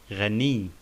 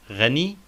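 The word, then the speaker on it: غني: We notice that there is shadda on ya, ghani. Not ghani, but ghani.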